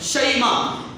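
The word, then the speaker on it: شیماء: جن کو کہتے ہیں، شیمہ نہیں ہے، تلفظ میں شیمہ ہے، شین کے اوپر زبر ہے یا ساکن ہے، شیمہ.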